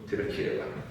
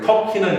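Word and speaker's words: Türkiye: 티르키예가. 이해되지? 그래서 걔네가 티르키예로 바꾼 거야. 돌궐. 원래 터키는 영어식 발음이고 티르키예 자기네식 발음으로 바꾼 거잖아.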